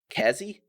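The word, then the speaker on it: Kezi: it'll be fine okay so how would you pronounce this k-e-z-i cassie yeah okay so that's that's the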